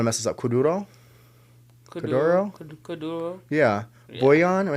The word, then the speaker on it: kuduro: Kuduro?